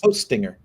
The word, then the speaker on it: Hostinger: How do you pronounce it please? Hostinger.